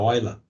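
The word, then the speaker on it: Euler: olha era um matemático suíço né então a pronúncia correta é um oi lá e é eu ver e escrito em portuguesa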